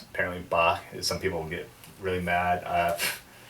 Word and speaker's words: Bach: lot of people consider ba as uh is pronounced apparently bach some people get really mad i call them bots sometimes it's just unfortunately there's a lot of